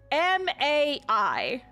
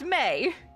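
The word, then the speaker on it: Mai: her name is spelled m Ai and when I see that I think oh her name is ma but no her name is pronounced may but they spell it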